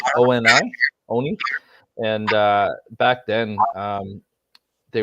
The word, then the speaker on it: Oni: I know in Japanese folklore, I believe that they call their demons Oni, O-N-I, Oni.